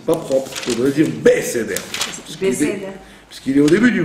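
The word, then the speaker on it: בְּסֵדֶר: Quand un Sheva est au début d'un mot, il est toujours Na. Il se prononce toujours. C'est pour ça qu'il y a l'étoile. Donc les gens qui disent Bseder, ce n'est pas, c'est pas propre.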